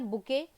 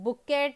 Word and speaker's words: bouquet: यहाँ पर BOUQUET होना चाहिए, जिसका प्रोनाउंसिएशन होता है बुके. अब यहाँ पर ये जो टी होता है ये साइलेंट होता है, सो इसका कोई प्रोनाउंसिएशन बुकेट या बकेट ऐसा कुछ नहीं होता है. इसका प्रोनाउंसिएशन बुके होता है.